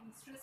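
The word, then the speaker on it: oestrus: इसमें ओ is silent, इसको कहते हैं ईस्ट्रस साइकिल और मेंस्ट्रुअल साइकिल।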